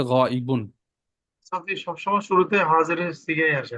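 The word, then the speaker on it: غائبٌ: বলছি হাদির হাদির আচ্ছা গাইব শব্দটা লিখে দিই পাশে দেখেন আচ্ছা নিচে ছয়টা গাইব গাইবুন সহজে আমরা গাইব গাইব বলি মূল উচ্চারণ হচ্ছে গাইবুন সবসময় শুরুতে হাজের সিগাই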